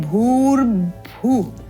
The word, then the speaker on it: भूर्भुवः: है यह वाला भू इसका उच्चारण इस रेफ को और ब को युक्त करते हुए करना है भूर भू भूर भू इस प्रकार त्रुटि क्या हम